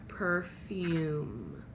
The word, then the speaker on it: perfume: consonant e your vowel your first vowel says its name okay its name so you have your first syllable is pur your second syllable is fume put that all together you have perfume perfume okay so we're gonna